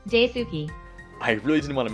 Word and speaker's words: Daisuke: Amanda Moss, Paul Nicotin, Vincent Chow, Daisuke Matsuda. Following my previous video on the mostly complete lore of Entry Points, some people started bullying how I pronounced Daisuke.